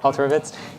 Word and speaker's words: Alterovitz: Did I get Alterovitz?